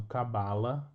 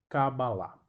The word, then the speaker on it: Kabbalah: no final acaba lá então esta é a pronúncia real da palavra não cabala mas sim kabbalah E aí e tendo